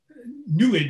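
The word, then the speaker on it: NEID: give us some more insight well the uh nid as it as it's pronounced NE D the the spectrograph yes was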